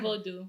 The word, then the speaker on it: Vodou: VU.